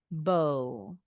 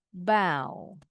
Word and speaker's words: bow: Tie the ribbon into a bow. Kalau yang verb bacanya bow.